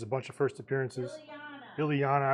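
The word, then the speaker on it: Illyana: It's the first appearance of Ilya Rasputin, aka Magic. She has a bunch of first appearances. Ilyana, I said it wrong.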